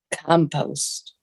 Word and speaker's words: compost: Stress on the first syllable. Compost. Well, I'm from London, England.